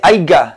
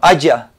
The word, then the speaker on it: haya: la corrección del Ah no se dice haiga sino haya es posible que haiga